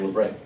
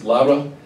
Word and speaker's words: Labre: It's actually a French word, it's Labre. It's based, named after Saint Benedict Joseph Labre. He's the patron saint of the homeless. We call it Labre because we're Americans and we're phonetically challenged, so it's Labre.